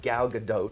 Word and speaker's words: Gal Gadot: can say this that gal gadot twitch is how you say her name who played Wonder Woman